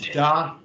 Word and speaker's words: da: see in both phrases the word da that sounds like dark in english da which that means good